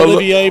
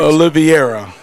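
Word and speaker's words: Oliveira: I wanted to say Olivier but that's not correct. Oliviera.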